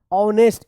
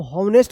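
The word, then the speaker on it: honest: एच ओ एन ई एस टी ऑनेस्ट इसको होनेस्ट मत पढ़िएगा।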